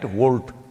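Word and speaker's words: Wolt: Volt. I'm seeing the Volt bags everywhere on the motorcycles. It's spelled wrong though. It's W-O-L-T, they spelled it like that.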